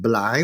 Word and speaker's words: trái: So I'll give you a simple example, like the word trái cây, trái like fruit, that was pronounced blai with a BL.